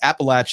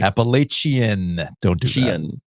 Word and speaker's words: Appalachian: were texting with Jared yesterday they got the appalachin and apple stack cake in Joe's world it's